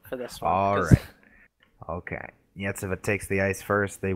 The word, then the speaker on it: Iecava: Give us the pronunciations and everything. Dynamo Yetsava versus Vaxio Lakers. Vaxio Lakers, yeah. Dynamo Yetsava. Yetsava.